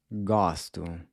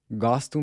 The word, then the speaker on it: gosto: Listen to the next word… “gosto”… “gos-to” “**gosto**” means “I like”. Notice how the first “o” is pronounced is pronounced like the “awe” in “awesome”… “gosto”.